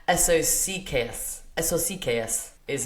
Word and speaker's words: eso sí que es: So, how you say "it is what it is" in Spanish is the word socks, but pronounced each letter. So it's eso sí que es.